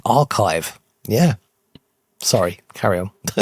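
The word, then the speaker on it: arXiv: do you know archive it's it's it's pronounced archive archive. Okay, believe it or not, the X represents the Greek letter chi, so it is actually archive.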